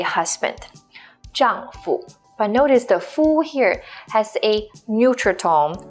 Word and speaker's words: 夫: It's pronounced as 夫.